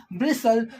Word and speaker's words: bristle: middle of a word where T follows s means when t comes after s same thing is here like in Castle hustle bristle so in that case it takes the sound of s and becomes a silent account of s as